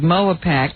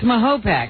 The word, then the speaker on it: Mahopac: I thought it was Mahopac. You're right. It's Mahopac. Oh, it is? I'm reading the A's and the O's all wrong.